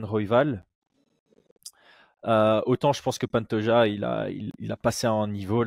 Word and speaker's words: Pantoja: si c'était en espagnol, c'est Pantoja, mais je crois que c'est chez les Brésiliens, donc c'est du portugais, je crois que c'est Pantoja.